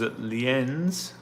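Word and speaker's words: Lienz: Uh here is Leen's. I think that's how you pronounce it.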